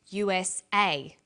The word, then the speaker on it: USA: Notice that each letter in the abbreviation is pronounced separately, but the last letter is pronounced more strongly because it carries the primary stress. So we say USA, ASAP, ABC, and TV.